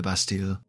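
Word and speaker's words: Bastille: taken to the Lost bastile which I'm pretty sure is supposed to be pronounced basti but we're not here to discuss proper French pronunciation the undead were gathered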